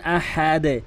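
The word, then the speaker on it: أحد: কুফান আহাদে কখনোই আহাদ বলবেন না। আহাদ বা আহাদ। কোনটিই বলবেন না। আহাদ বা আহাদ। এই কোনটি বলবেন না। বলবেন হচ্ছে আহাদে।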